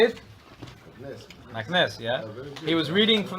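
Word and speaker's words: Meknes: Maknes, yeah.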